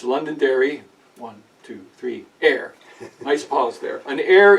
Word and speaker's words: Londonderry Air: It's not Londonderry Air, it's Londonderry, 1, 2, 3, air.